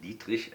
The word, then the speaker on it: Dietrich: Actually a German name, that's why I pronounce it like that, Dietrich, and the first name should be pronounced Raimund Dietrich.